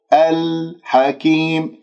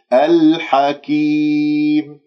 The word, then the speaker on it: الحكيم: العليم الحكيم، العليم الحكيم. أيضا اللام من كلمة الحكيم قمرية لأنه جاء بعدها الحاء.